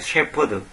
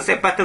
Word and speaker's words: 셰퍼드: 명수 그다음에 셰퍼드는 말이어 셰퍼드 우리 보통 저 한국시 발음으로 세퍼트 세파트 그러잖아요 세파트 세파트 그 개 그 저 군견 경찰권을 보고 세파트 그러잖아요 그 세파트 아니라 셰퍼드 셰퍼드는 것은 이걸 보통